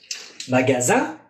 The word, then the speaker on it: magasin: Magazine. Magasin. Zin. Mira mis labios. Un se estira. Magasin. Magazine. Magazine. Magasin. Lo exagero, pero magasin, magazine. Nasal, ya no es nasal.